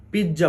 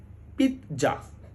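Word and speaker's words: pizza: জেড এ আমরা বেশিরভাগ সময় বেশিরভাগ মানুষই এটাকে পিজ্জা বলি কিন্তু এটি সঠিক নয় সঠিক উচ্চারণ হলো পিত্জা পিত্জা পরশ্বীকারে পি খন্ডত জয় আকারে যা পিজ্জা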